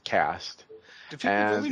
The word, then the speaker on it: Caste: Cast, it's like talking about Dawncaste, Zenith, Twilight, it's Cast.